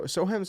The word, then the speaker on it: Soham: specifically um but it's the soham so sohem's how you pronounce it uh railway explosion